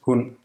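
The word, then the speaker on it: hund: It's phonemic, and its presence can distinguish words that otherwise sound the same. For example, hun, meaning she versus hun, meaning dog, hun, hun.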